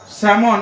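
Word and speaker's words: salmon: এর প্লুরাল হয় কাভস স্যামন এখানে এল সাইলেন্ট থাকে নট স্যালমন এর প্লুরাল হবে স্যামনি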